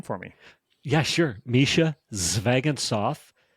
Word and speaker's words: Zvegintzov: Mischa Zvegintzov. Technically, if my Russian father heard me say that, he would say Zvegintsov. So that's really Zvegintsov. Phonetically, keep it simple. Zvegintsov.